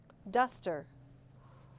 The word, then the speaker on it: duster: Duster. Where is the schwa? There it is, the second syllable, duster. Forbid.